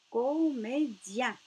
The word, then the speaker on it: comédien: Donc, le son yen avec le D, ça se prononce dien. Donc, garde, gardien. Comédie, comédien. Ici, on a IE, donc dit. Ici, nous avons le son ien. IEN se prononce yen.